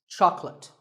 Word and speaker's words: chocolate: this at the store make sure that there are only two syllables Chuck and let chocolate and remember there is no late in chocolate speaking of chocolate how